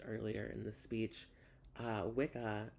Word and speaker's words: Wicca: in the speech uh Wicca properly pronounced as wicha is the old word